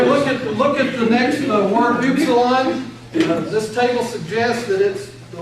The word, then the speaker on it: upsilon: look at the next word, upsilon. This table suggests that the letter's pronounced like U, like in put, but the preferred pronunciation is actually like the German U, as in root, or the French.